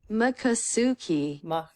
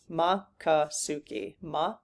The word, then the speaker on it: Miccosukee: Makasuki. Makasuki. Makasuki. Okay. I think it's just in one, but I want to out of respect, I want to try to get it right here. Okay. Makasuki.